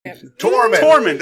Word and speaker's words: Tormund: Tormund. I said Tormund. I thought you said Dorm. Yeah. Tormund. Close enough. I mean, I was one syllable I'll off.